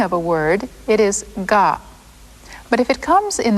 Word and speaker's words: が: So if you add these little marks, the pronunciation changes from ka to ga.